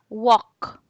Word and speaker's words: walk: walk walk walk walk the air doesn't sound yeah it sounds like this walk this you pronunciate it